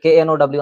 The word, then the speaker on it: know: বা আমি এই যে বললাম যে KNOW, আমরা উচ্চারণ করি ন, কিন্তু লিখতে কে আমরা সাথে লিখি।